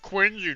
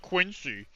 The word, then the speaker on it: Quincy: And then you say that, everybody appears like it's pronounced quinzy, not quincy.